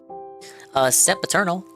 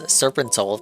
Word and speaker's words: Sep Eternal: the party of 23, Sep Eternal. I keep pronouncing their name as Serpentol, but it's a Sep Eternal.